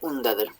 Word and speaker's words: undaður: I just turned the V that was there into a U, because it's pronounced un here. Geiri undaður. Undaður means wounded as an adjective.